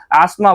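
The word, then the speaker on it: asthma: अस्थमा बोलते हैं इसे। एस्त त नहीं प्रोनाउंस करते हैं। अस्थमा बोलते हैं। इसे इसका करेक्ट इंग्लिश प्रोनाउन है। अपना एस्मा हो सकता है।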